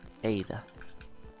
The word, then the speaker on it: Ada: Ada. It is pronounced.